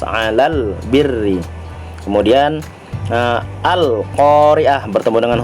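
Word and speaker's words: الْبِرِّ: nya dibaca dengan jelas contoh Ilal birri bukan alap diri tetapi lalunya dibaca dengan jelas Alal birri kemudian nah al-khoeriyah bertemu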